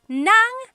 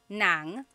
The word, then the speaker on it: nang: Uh S on YouTube asked, "Is nang and nang the same thing?" Oh my gosh, I love this question. So, there are two types of nang in Tagalog. N a n g nang and then ng nang.